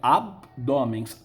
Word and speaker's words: abdômen: ir aí não é a pronúncia a prosódia pronúncia correta é abdômen abdômen na língua coloquial falamos abdômen nós colocamos um e aí isso aí que até o nome em fonética uma vogal de apoio abdômen é a abdômen